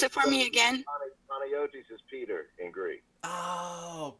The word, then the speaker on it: Panagiotis: So, and pronounce it for me again. Panayotis is Peter in Greek.